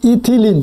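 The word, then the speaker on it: ethylene: কি ইথিলিন মানে ইথিলিন যেটাকে আমরা বলি ইথিলিন শুদ্ধ উচ্চারণ খেয়াল রাখবা ইথিলিন নামক রাসায়নিক পদার্থ ব্যবহার হছে সঠিক উচ্চারণ কি ইথিলিন খেয়াল রাখবা হ্যা এগুলো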